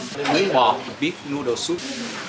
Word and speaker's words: bò: It's called Bò, beef noodle soup. Bún Bò.